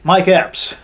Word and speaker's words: Mike Epps: You got LJ, Mike Epps. That's how you pronounce his name.